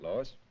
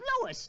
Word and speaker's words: Louis: story at the plant Lois Lois me name is Lis not Lois J W everybody in toates me name wrong it's Lis l o u i s Lois uh Louise Lucy